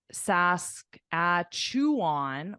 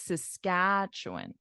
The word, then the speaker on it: Saskatchewan: is incorrect is because your syllable stress is in the wrong place so if you say uh Sask at chew on or something like that Saskatchewan it would sound really weird because it's Saskatchewan Saskatchewan exactly like you said